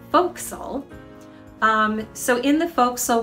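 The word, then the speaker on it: forecastle: triangular shaped area sometimes known as the four castle although usually pronounced foxyl so in the folk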